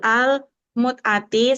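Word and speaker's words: المتعة: Wa an Salamata bin Aqwa'i radhiyallahu anhu qala Rasulullah sallallahu alaihi wasallam amma awtasin fi al-mumtaati salah satu Mut'ati yang benar bacanya. fi al-mut'ati salah satu ayamin summa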